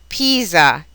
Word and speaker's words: Pisa: R, and V, the S sounds like an English Z. Some examples: Pisa, riso, sbaglio, sdegno, smettere, snello.